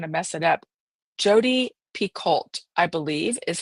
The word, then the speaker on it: Picoult: Jodi Picoult, I believe, is how you actually pronounce it.